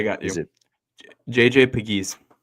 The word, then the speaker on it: Pegues: Is it JJ Pegues? Pegues.